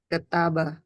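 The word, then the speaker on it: ܟܬܒܐ: Jadi itu ketaba. Ketaba. Betul. Ketaba gitu ya.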